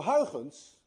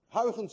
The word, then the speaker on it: Huygens: Huygens, by the way, is difficult to pronounce. Anyone of you who knows how to say Huygens correctly is also Dutch, because you miss the ui in your language and you miss the ch in your language.